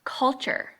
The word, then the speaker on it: culture: All right, next, culture. Chur. There it is. Okay, there's the chur. And it's not spelled with a CH, it's spelled with a T-U-R-E.